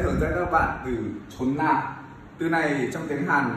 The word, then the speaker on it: 존나: Ok, từ này đọc là chốn na, bắt nguồn từ chột.